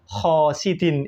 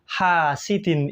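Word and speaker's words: حاسد: ayat surat alfalaq itu Dia membacanya itu Wamin syarri khosidin idza hasad padahal yang betul kan Wamin syarri hasidin idza hasad jadi memakai ha tetapi ibu ini malah memakai ko nah di dalam bahasa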